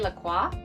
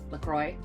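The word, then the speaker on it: LaCroix: then it's this La I would say laqua but I believe they pronounce it lacroy very angle sized passion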